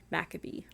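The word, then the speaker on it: Maccabee: more common I and I also hope I'm pronouncing that right I don't know how else would be pronounced cuz it's m a c c a b e e macabe that looks that sounds like macabe yeah so the makabe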